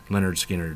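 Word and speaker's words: Lynyrd Skynyrd: this with than their debut album pronounced leonard skinner so you will not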